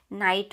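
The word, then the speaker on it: knight: के silent word है नाइट में जो है वो जी एच जो है वो साइलेंट वर्ड आता है और फिर अगर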